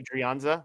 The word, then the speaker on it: Adrianza: Uh you know in Spanish the h is usually silent.